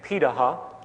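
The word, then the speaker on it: Pirahã: We know this today because of anthropological research done on remaining hunter-gatherer societies around the world, such as the Piraha, which is how it's pronunciated, out of Brazil.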